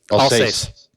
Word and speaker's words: Alsace: Alsace.